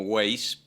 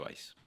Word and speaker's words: Weiß: Se ha argentinizado y todo el mundo me dice, incluso yo mismo, Weiss, pero se pronuncia Weiss.